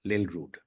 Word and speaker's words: Lillrud: Lill Rud, welcome to the show. Thank you so much, and I must say a perfect pronunciation of my surname, which is not that easy.